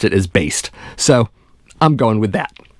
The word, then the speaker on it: Baest: by century media records and yes it is pronounced based i know a lot of people have had